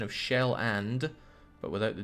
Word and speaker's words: Schweland: Please pronounce Schweland correctly before burning it. The pronunciation of Shell-and, but without the D at the end. Shell-and.